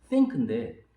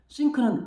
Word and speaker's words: think: 그래서 예를 들어서 뭐 생각한다는 think인데 번데기 발음이라고 그러죠. 혀를 잠깐 빼서 think 하는데 그거를 뭐 I sink는 S-I-N-K 가라앉다는 뜻인데 이렇게 원어민들한테 잘못된 메시지를 전달할 수 있다는 거예요.